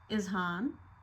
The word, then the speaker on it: Ezhaan: हमारे बच्चे का नाम है इज़हान, जिसकी स्पेलिंग का ई जो है वो थोड़ा सा